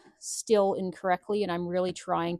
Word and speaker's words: Stihl: I know I pronounce Stihl incorrectly, and I'm really trying to pronounce it Stihl. I've been pronouncing it Still for the last, well, as long as I've been speaking the English language.